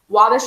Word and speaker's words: Wabash: Wabash is spelled W-A-B-A-S-H, Wabash.